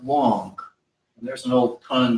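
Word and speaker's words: 王: This is a very old Chinese character, and it's the character for king, and it's pronounced Wong.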